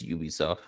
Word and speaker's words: Ubisoft: Creed yeah a little do you pronounce it Ubisoft or Ubisoft it's Ubisoft they're literally gonna be